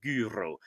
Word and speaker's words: gyro: why we pronounce this gyro the accurate ancient pronunciation would be something like guro which is of course